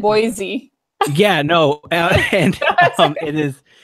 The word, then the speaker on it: Boise: I know out here, for instance, we've got you've got Nampa and Boise, which are the two big city metropolitan areas in Idaho, and then you've got everywhere else, which is still very, very Republican.